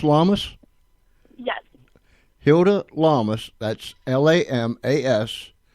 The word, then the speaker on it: Lamas: Is it pronounced Lamas?